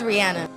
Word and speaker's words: Rihanna: It is Rihanna.